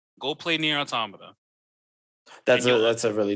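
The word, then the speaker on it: NieR: Automata: bet it's on game pass go look up near automata go play near automata that's a that's a really dope experience really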